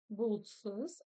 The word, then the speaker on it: бұлтсыз: Напоминаю, что буква У с черточкой снизу – это краткий вариант буквы О. Буквы О обыкновенной.